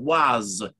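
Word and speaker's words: Oise: there which is the the district of the waz it's the perfect deal of the was o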